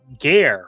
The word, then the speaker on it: Gare: Okay, says, my name is pronounced as Gur, rhymes with hair. Gare rhymes with hair.